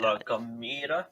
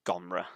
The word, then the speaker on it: La Gomera: Yeah, La Gomera, maybe. yeah, it's that. Yeah, like how we pronounce it is not how it should be pronounced.